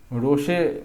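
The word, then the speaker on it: roche: ठीक है, तो इरोजन में कौन कौन से हैं, रोचे माउंटोनी, ठीक है, रोशे पढ़ सकते हैं, बट रोचे आप देसी भाषा में पढ़िए, रोचे माउंटोनी एंड क्रैग एंड टेल।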